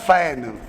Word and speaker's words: feign: तो एक वर्ड है फैन, इसका प्रोनाउंसिएशन होता है फैन, FEIGN।